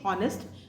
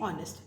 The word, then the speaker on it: honest: I will use and next is honest I don't say honest I say honest we'll use and let